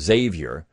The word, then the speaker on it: Sevier: If you read, and he even gets into some of this, John Sevier, actually how you would really pronounce that is Xavier, but Sevierville, Tennessee.